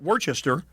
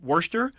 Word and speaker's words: Worcester: It's, I believe you pronounce it Worcester, and it's a cheaper.